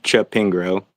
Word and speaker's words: Chapingro: I'm doing wonderful, and just to aid the conversation, it's Chapingro, like Chapingro. Chappie and Pingro.